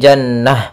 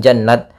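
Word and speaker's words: جنة: tasydid kemudian di sini Kenapa kok kita membacanya Jannah bukan jannat Padahal di sini ada huruf ta ya di sini kita namakan dengan TA marbutah TA marbutoh Ya ta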